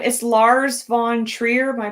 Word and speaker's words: Lars von Trier: But it's the director's name is Lars von Trier. Am I pronouncing that right?